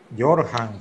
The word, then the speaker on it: Jorjan: Bueno, Jorgan, ¿cómo se pronuncia? Jorge. Jorgan.